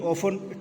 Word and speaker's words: often: And generally, often, T is silent here, children. T should not be pronounced.